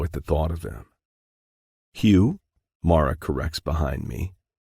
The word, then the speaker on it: Hugh: Hugh. Mara corrects behind me. The 14-year-old no longer wants the E sound at the end of his name.